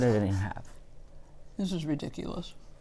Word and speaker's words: ridículo: This is ridiculous. It's just so good. You're so sweet. How do you say ridiculous in Espanol? Ridículo. Ridiculo. But you have to roll that.